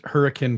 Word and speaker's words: Hurricane: bill you you pronounced hurricane correctly it's the only place on the planet where they pronounce it that way okay very good thank